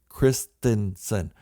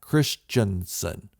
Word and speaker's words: Christensen: we've heard rumors that Hayden Christensen yes it's pronounced Christensen not Christensen I don't know why so many people get